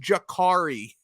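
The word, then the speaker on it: Jacurri: it his name is I don't care how it's spelled it's pronounced Jakari but no matter which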